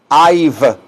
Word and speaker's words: I've: I've, porque es la letra B. Rima con el número 5, five.